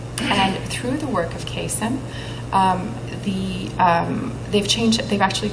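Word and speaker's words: CAISN: partner and this year the way that this acronym is pronounce is just like it reads it's called Kasem and it's 10 floors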